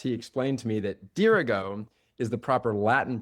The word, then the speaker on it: Dirigo: And in the prep to this podcast, he explained to me that Durggo is the proper Latin pronunciation. Dergo is the main.